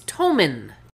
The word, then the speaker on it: Thomann: Is it pronounced Thomann, I think? Wrong. It's Thomann.